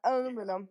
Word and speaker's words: aluminum: And in America they say aluminum.